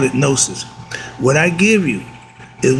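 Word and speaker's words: gnosis: get over it and that word is called nosis it's spelled g n o s i s Christians was called Gnostic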